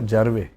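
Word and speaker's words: Jarawa: Sir Andaman में सर कुछ tribe हैं, जरावा, सेंटिनली, जारवे. सर जरावा, सर जरावा बोलते हैं.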